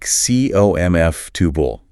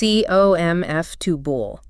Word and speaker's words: comfortable: It's more like comf-tubal. Again, reducing syllables. comf-tubal.